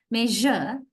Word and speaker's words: measure: is pronounced as not as sh it is pronounced as J J pleasure I hope you all can clearly hear my voice measure pleasure pleasure right that J sound is this